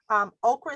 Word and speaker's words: okra: So okra is spelled O-K-R-A, but it's also spelled okra, O-K-R-O, known in many English-speaking countries as lady's finger.